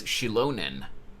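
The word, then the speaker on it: Xilonen: So her name is pronounced as Shilonen.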